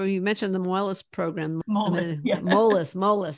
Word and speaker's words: Moelis: Moelis. Yeah. Moelis. It's hard to work. I was pronouncing incorrectly.